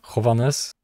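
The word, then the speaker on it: Հովհաննես: Yeah, it begins with a J, which is pronounced as H, Hovannes.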